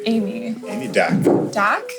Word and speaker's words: Dak: you good what's your name amy amy doc doc how do you spell that d.a.k yeah so how's it going amy